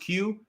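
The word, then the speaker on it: Kyu: there's the q franchise it's spelled k-y-u but it's pronounced q they've i mean they've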